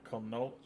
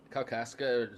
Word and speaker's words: Kalkaska: I'm going to pronounce the name of this Michigan town. Is it Canolia? It was Kalkaska, just outside of Traverse City.